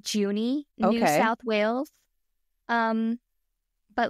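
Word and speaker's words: Junee: how to pronounce this place I've been saying juny New South Wales um but let me double check that that pronunciation is correct before I juny ha okay then we're fine um so it's located in juny New South Wales and it is widely regarded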